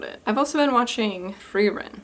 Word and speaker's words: Frieren: I've also been watching Frieren. So it is pronounced in like the Germanic way.